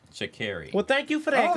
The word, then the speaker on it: Sha'Carri: I think we're saying y'all are saying her name wrong as well. Her name is Sha'Carri. Sha'Carri.